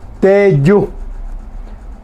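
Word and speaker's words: teju: Lagarto, teyú. Teyú. Recordemos cómo se escribe teyú.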